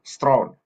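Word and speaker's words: Strachan: Ini tulisannya stracam tapi bacanya Stone seperti S T R A W N. Itulah keunikannya orang Inggris. tulisannya stracan bisa dipanggil strong. Kalau ada tulisan S T R A W N bacanya strong juga.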